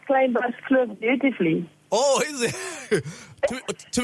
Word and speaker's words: Kleinbergskloof: This is Dutch.